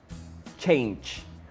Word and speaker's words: change: Y recuerda que todas las palabras en inglés que terminan en G, E, se pronuncian con che, orange. Cuando dices la palabra edad, age. Cuando dices la palabra cambio o el verbo cambiar, lo cual es lo mismo, change.